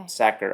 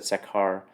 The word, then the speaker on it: Sachar: 1999's winner, Holes, by, I didn't ever know how to pronounce this guy's last name, so I looked it up. Louis Sachar is Oh, how you that's what I pronounce it. thought. Okay. Sachar. I always said Sakhar.